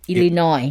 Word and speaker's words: Illinois: this word right so the correct one is Illinois Illinois Illinois yes that's a state